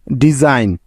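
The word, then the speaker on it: design: সাইন ডিজাইন ডি ই এস আই জি এন ডিজাইন ফরেন এফ ও আর ই আই জি এন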